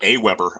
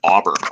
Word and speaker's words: AWeber: Yeah, and I see you pronounced it Aweber. I pronounced it Auber, which I think is much, much cooler.